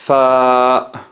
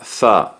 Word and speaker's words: ث: La Tha que tenemos en España, en algunas regiones de España, pronunciamos la Tha, la Z.